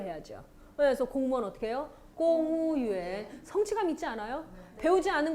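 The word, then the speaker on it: 公务员: 그리고 무 발음은 보통 우로 발음 난다 그랬어요. 성조만 모를 뿐이지. 네, 그러면 공무원이니까 공은 발음 좀 진하게 해서 공, 그 다음에요. 무는 우고, 그 다음에 유엔만 하면 되면 어떡해요? 공우유엔.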